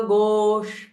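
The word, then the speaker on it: गोष्ठी: Veera Veer go प्री so this इ retro flex श with a महाप्राण ठ गो सो इट इज नॉट त इट इज नॉट ट बट इ इट इ ठ गो and Priya so pressing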